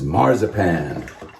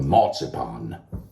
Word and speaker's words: marzipan: uh from England is marzipan or marzipan all these different ways to pronounce these words so marsupan you know the almond